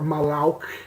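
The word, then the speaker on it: מלאך: Like, well, the word angel in this is malak, or malauk is how it's pronounced, but it literally means like a messenger, a deputy, specifically of God.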